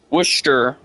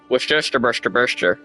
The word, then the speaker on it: Worcestershire: Worcestershire sauce is not correct.